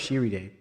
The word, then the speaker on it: Shiriday: Where is Shiriday? King. Oh. Oh. Oh. Shir. King. Land. Land of Shiriday. Sir pronounced Shiri day.